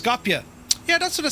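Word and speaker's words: Skopje: It's pronounced Scopia.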